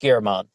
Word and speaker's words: German: a suspect named German Kenneth Lester German sometimes pronounced gehrman and with Kenneth's eyes